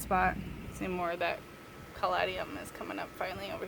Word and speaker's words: caladium: And then these, I think it's pronounced caladium.